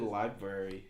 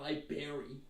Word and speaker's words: library: Say it correctly. There's a second R. Library, not library.